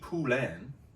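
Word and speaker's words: Poullain: much drugs or well the second album Frankie pulen that's how you say it the bass player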